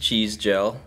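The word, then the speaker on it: Cizdziel: So it's pronounced cheese gel. Cheese gel. Cheese gel, yeah. Cheese gel. Yeah. It's like cheese, hair cheese gel. Like hair yeah, gel.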